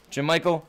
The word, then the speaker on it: Jermichael: Is that Jermichael? That's Jermichael. Oh, you know what? You're right. Jermichael. Three syllables.